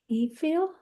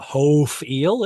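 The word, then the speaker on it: הִפְעִיל: Hif'il? Mhm. Hif'il. Now, why doesn't it have an e sound there like it's supposed to? It's not hof'il, it's hif'il. So, where's the e sound?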